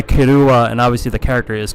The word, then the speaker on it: Killua: is kirua all right so I know the k i l l is like the English pronunciation but you could go either way to be honest with you if it's Japanese but he goes by kuua and obviously the character